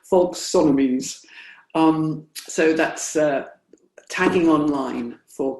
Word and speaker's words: folksonomies: And then the other thing that is a development of Web 2.0 are these hashtags, or other folksomies. How do you pronounce that? Folksonomies.